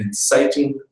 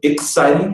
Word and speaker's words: inciting: an inciting incident uh please hear that I did not say the word exciting and if you see that on your screen the word is spelled I NCI T iing not exciting what is an